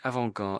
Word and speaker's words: avant-garde: So avant-garde. Let's listen to how they say it. Avant-garde. So there's no T when they're saying it. That's the key thing.